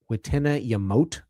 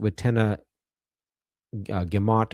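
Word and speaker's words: witenagemot: It's the wetenna yamote I think or it can be pronounced watenna gamont but it's uh apparently the g can be a y. So wenna gimmote or the assembly of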